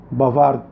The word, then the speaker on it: bavarde: وفي النطق لاحظوا ان النطق الصفة المذكرة بيختلف عن الصفة المؤنثة. بافار، بافارد. بافار صفة مذكرة، بافارد صفة مؤنثة.